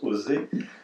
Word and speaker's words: OSE: Le sigle OSE, qui correspondait à œuvre sanitaire juive en russe, a été conservé en français, donc on prononce OSE, et l'appellation française c'est œuvre de secours aux enfants.